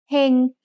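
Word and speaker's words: เฮง: เ ฮ ง has a low-class consonant with a live syllable ending, so it's mid-tone.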